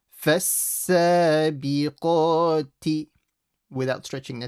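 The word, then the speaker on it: فالسابقات: Yeah, don't say ka. Make the qaf heavy. And the t, don't stretch. فَالسَّابِقَاتِ.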